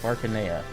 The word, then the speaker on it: Arcanea: next, before we dig into the box, we'll take a look here at the art book, Legends of Arcanea, which I just learned is the official pronunciation last night on Twitter.